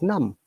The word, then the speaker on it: numb: always silent, so it's num. Do you know in which places B are silent? Generally, if there is a letter B after M, then it is silent, so like num.